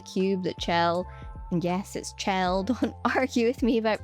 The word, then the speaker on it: Chell: It probably says something that the cube that Chelle and yes it's Chelle. Don't argue with me about pronunciation in the comments, but the cube Chelle